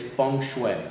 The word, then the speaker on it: feng shui: it feng shui or feng shui the correct pronunciation is feng shui feng shui um it is uh it is